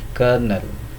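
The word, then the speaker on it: colonel: Take an example of kernel, C-O-L-O-N-E-L.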